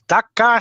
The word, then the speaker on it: Dakar: What is dark? Oh God, how do you say it? Dark. Let's Pass. sing it. Want to pass? Yeah. Okay. Patrick. That is Dakar, Senegal.